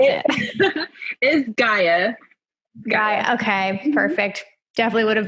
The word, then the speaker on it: Gaea: you say your instagram handle how do you pronounce it is gaia okay perfect definitely would have butchered that so